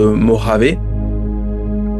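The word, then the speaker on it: Mojave: Alors euh le 18 juillet 2022, le soleil se couchait au-dessus du désert de Moravé. Donc ça s'écrit, ça se dit Moravé, mais c'est ça s'écrit Mojavé.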